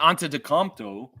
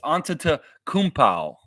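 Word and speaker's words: Antetokounmpo: pow an an Kow it's not Anto it's an Kow yianis anow that's how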